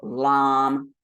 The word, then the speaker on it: lam: The A in each of these is pronounced as ah. So lam, vam, ram, yam, ham.